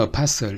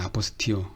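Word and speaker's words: apostille: 아포스티오는 영어로는 apostle 이렇게 발음이 되는 것 같은데 이게 이제 프랑스어이기 때문에 아포스티오 이렇게 발음이 됩니다.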